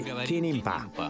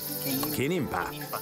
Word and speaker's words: kinimpa: We just say kinimpa. It means food. Kinimpa.